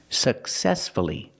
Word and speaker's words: successfully: successfully for many years successfully successfully the stress is on the second syllable so we pronounce the U uhuh successfully let's practice